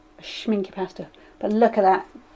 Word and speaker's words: Schminke: my favorite favorite pestle schminke and not shown you pronounce it s CH minc ke still schminke pasta but look at